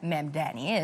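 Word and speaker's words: Mamdani: According to Babbel and the Captioning Group, the name of New York City Mayor Memdani is one of the most commonly mispronounced words, with many swapping the M and the N.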